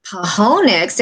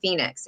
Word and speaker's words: Phoenix: And I thought, and I was looking at all the operators and everybody's going, Pahonix, and we're trying to figure this out.